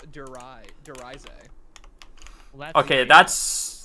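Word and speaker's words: Der Riese: Actually, I'm pretty sure it's Darius, yeah. Yeah. Did you guys know that in an interview with Jason Lundell, the map's name is actually he talked to people in Germany. It's actually pronounced Derize.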